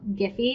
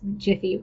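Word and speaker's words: Giphy: it's actually pretty simple I like to get my gifts from giffy and yeah I realized jiffy is probably how it's supposed to be pronounced but anyway I like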